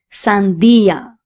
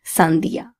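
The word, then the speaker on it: sandía: So we need to say sia and not sandia because it has an accent on top of the i.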